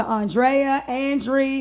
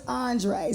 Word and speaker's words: Andree: And then they want to change my name to Andree, and I'm like, no, it's Andree.